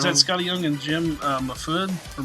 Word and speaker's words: Mahfood: Is that Scotty Young and Jim Mahfood or Mahfood? How do you say his name? How's it spelled? It looks like Jim Mahfood, but it's Mahfood.